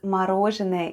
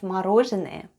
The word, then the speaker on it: мороженое: This time it's stressed and is pronounced as /o/.